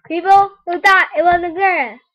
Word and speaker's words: Xaria: so it turns out xaria is actually pronounced Zaria her name is pronounced zarya people who thought it wasn't Zaria it's zarya you got that people